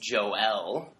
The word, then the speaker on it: Joel: have to correct you it's Joel yeah which I know I have troubles pronouncing my L the extra syllable definitely from the from the French background up in Quebec yeah Montreal baby and